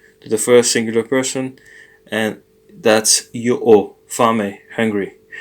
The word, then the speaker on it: a: And it's not ha, A. it's a. So the H is silent, are two forms of the verb to have, and so that's how they are in Italian.